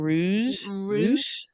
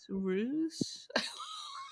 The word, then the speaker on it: ruse: think ruse are you saying it with a z sound ruse ruse okay let's give